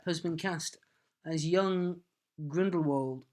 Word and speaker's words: Grindelwald: Johnny Depp has been cast as young Grindelwald, or possibly Grindelwald, because I think that's how Rowling pronounces it. Okay. Grindelwald. Anyway, Johnny Depp's been cast as young... We're going to say Grindelwald now. Vold. Yes. It sounds better.